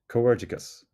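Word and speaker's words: comhghairdeas: practice the pronunciation together this one can be difficult so we'll break it down into smaller pieces before trying the full word cus cus cicus cerus craving more Irish greetings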